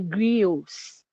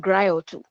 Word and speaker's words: griot: they are called the griots. The word there is not griot, it is spelled Griots. That is the spelling, and it sounds like griot, but it's not.